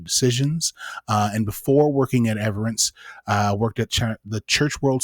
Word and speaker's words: Everence: She works at Everence. Is that the correct pronunciation?